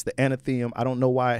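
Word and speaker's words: Athenaeum: It's the Anatheum.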